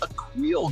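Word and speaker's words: Aqeel: Yes, and for years I mispronounced it until he finally checked me. It is actually Akil Glass. Akil, okay.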